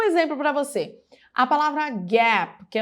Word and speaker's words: Gap: Se você falar Gap, ele já não vai entender. Porque muitas pessoas acabam colocando uma vogal extra no final da palavra, porque nós não temos consoantes mudas em português.